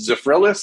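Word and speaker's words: Zephyrhills: high school and i don't know how it's zephrylus is that how it's pronounced it's a friend yeah yeah yeah somewhere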